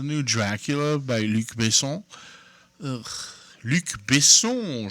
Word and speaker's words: Luc Besson: Luc Besson, je montre ma prononciation française.